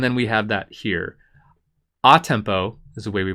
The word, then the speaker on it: a tempo: which is and then we have that here a tempo is the way we pronounce that tempo means the tempo of the